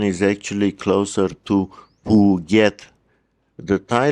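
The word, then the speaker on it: Phuket: is actually closer to Puget. The Thai letter Goai is pronounced like a G at the beginning of a syllable, but like a K at the end.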